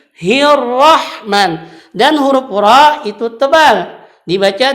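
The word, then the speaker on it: الرحمن: kesalahan ketika dia membacakan Hirohman Nirohim dia membacakan hiu roh dengan huruf H disitu hati-hati Itu huruf H bukan bacanya hilwah mah tapi hirohman dan huruf-huruf itu tebal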